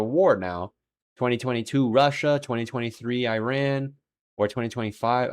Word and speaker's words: Iran: Now 2022, Russia, 2023 Iran, or 2025, it's actually Iran, not Iran. I guess I've been saying it wrong.